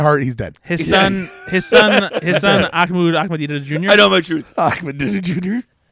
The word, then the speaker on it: Ahmadinejad: Ahmadinejad. Is that right? He's Ahmadinejad.